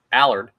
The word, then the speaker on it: Allard: say his name right I believe it's Allard like Mard but who is he what does he bring and why did the Phillies sign I'll tell you all about Colby Allard next as we continue